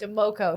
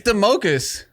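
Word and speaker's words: Domokos: Doug D-O-M-O-K-O-S. Democos. Wow, dude. Democos. You It's- fucking didn't even say his name right. It's Democus.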